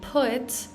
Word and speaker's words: put: this tongue twister is even when we say put, we're not really pronouncing that T like T. We're kind of pronouncing it like we're pronouncing the other T's because of the vowel sound that comes after.